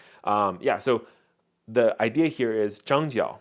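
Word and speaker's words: 张角: So the idea here is Zhang Jiao, or Zhang Jue, if you're talking about like older Chinese pronunciation of this character, this Chinese character, very likely it's Zhang Jue, is actually the leader of the Yellow Turban, right?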